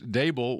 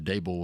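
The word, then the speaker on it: Daboll: It's it's it's Dable. It's like Table. Okay. That's how it's pronounced.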